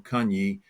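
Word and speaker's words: Cagny: south of KH in the village I'm GNA pronounce it wrong Kani c a gny y um south of Khan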